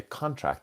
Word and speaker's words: contract: contract contract contract okay So with the pronunciation of the size to get smaller, we put the emphasis on to contract on the second syllable with the fir with the deal.